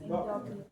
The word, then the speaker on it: endócrina: Primeiro, hipoplasia do nervo óptico, disfunção, endocrina. Eu acho que é assim pronuncia. Endó endócrina. Endócrina. Isso.